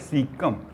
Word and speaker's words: caecum: इस वर्ड को प्रोनाउंस करते हैं सीकम, CAECUM, सीकम।